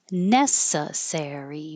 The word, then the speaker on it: necessary: And necessary. 1, 2, 3, 4. Necessary. That would be a good word for a 4 syllable word. Stress on the first syllable.